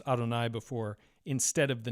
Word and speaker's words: Adonai: not vocalized that way you can tell that by the kamatz vowel here the long a which suggests that we are to read Adonai the word for Lord and this attests to